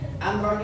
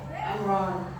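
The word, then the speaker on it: أمرا: Nah, ketika terjadi mad iwad, maka lafaz amron tidak boleh dibaca amron, tidak boleh dibaca tanwin, harus dibaca fathah saja, lalu dipanjangkan 2 harokat. Amron menjadi amro.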